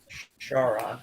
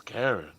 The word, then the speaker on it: Charon: Charon. Okay, that's interesting. Okay, that's how you pronounce I it. thought her name was Karen.